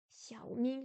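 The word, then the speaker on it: 小明: Xiao troisième ton, Ming deuxième ton. Xiao Ming, de toute façon, c'est un prénom.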